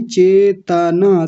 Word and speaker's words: चेतना: बोला था चेतना नहीं चेतना, तना, चेतना नहीं चेतना, तकार को पूरा रखेंगे यानी त को पूरा बोलेंगे।